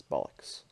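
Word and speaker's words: Ballox: actually hurt um and the name is not spelled the way the actual word bollocks is uh the way it's spelled is b-a-l-l-o-x that's what my game's name is going to be is bollocks so uh here's the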